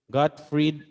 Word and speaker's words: Gottfried: Okay, so yung kanyang pronunciation is Gottfried, okay? Gottfried Leibniz.